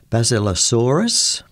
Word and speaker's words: Basilosaurus: Now, for example, the species of whale that are buried in the Sahara are pronounced Basilosaurus and Dorudon.